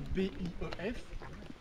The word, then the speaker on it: bief: ou un billet ça dépend mais ça s'écrivait B I e f ond quelqu'un avec prononciation vraiment au bief pas pareil ça va